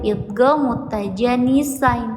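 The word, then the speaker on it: idgham mutajanisain: Idgam mutajanisain. Cara bacanya harus dileburkan. Jadi dalnya kalau dicontoh itu dalnya tidak dibaca ya. Masuk ke dad. Kalau ini tanya yang tidak dibaca masuknya ke dal.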